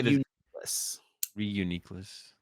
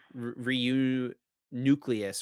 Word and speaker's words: Reuniclus: its name correctly but that is not how you say his name he say it told me re uniess because it is a unique re yeah okay not uh reu nucleus or something like that that's how I thought